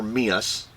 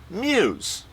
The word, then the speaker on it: meus: Back then, MEUS meant mine, and it was not pronounced MEUS. It was pronounced MEUS. Like M-U-S-E. MEUS and MUSE are pronounced the same.